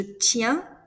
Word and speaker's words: tiens: For je, tu, and il, elle singular, you pronounce it the same. The SST is mute.